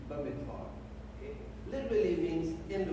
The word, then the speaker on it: Bamidbar: Under the B there is pronounced as a V, Bamidbar.